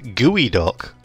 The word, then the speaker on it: geoduck: I'm not gonna lie it's actually pronounced gooey doc that sounds worse and